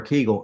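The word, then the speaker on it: Kegel: a k or keegle either way it's pronounced correctly is not a Kagel or keegle unless there is biof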